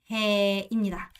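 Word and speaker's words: hè: 여름을 바로 해라고 해요. 자, 여름에는 뭐야? 해가 쨍쨍쨍쨍하고 해가 참 덥죠. 그래서 여름을 뭐라고 한다? 해가 쨍쨍하고 해가 더우니까 해라고 읽습니다. 해입니다.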